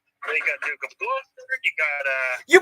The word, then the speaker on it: Gloucester: and sub-zero yes now you know how to pronounce its name gloucester gloucester the duke of gloucester thank yes it is